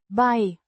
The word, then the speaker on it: bij: Pronounced. Bij. Similar to the English word.